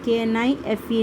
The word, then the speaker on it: knife: So first one, Joy was playing with a knife. JOY, Joy. WAS was PLAYING, playing. WITH with a KNIFE, knife.